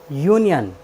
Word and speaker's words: union: ओ का उच्चारण का नियम है, यदि किसी वर्ड के अंत में ON आए तो हम ओ का उच्चारण ए करते हैं। जैसे UNION, यूनियन।